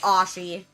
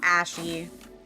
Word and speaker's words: Ashi: Yeah, it's Ashi. It's Ashi. Not Ashy. It's Ashi. Everybody says it wrong.